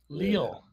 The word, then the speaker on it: Lille: Lil? Is it Lil or Lily? I don't know. I don't know. You know what? I don't follow. Well, it's French. You generally pronounce less letters when it's French. Lille.